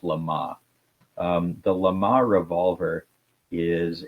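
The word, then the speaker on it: LeMat: Now, I took the wrong language in high school and college, so I my French pronunciation is probably awful, but I've heard it pronounced Lama.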